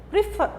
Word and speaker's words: prefer: Olha aqui, por exemplo, prefer. Fur é o mais forte, é a última sílaba, logo, essa sílaba é a sílaba tônica.